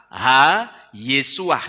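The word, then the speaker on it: הישועה: Yesua itu he yod sin wau ain he dibaca ha yesuah seperti ini dibacanya ya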